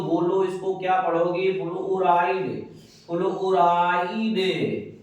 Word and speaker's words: fluoride: अगर स्टूडेंट हम कहीं या माइनस लिख दें तो बोलो इसको क्या पढ़ोगे, फ्लोराइड, फ्लोराइड।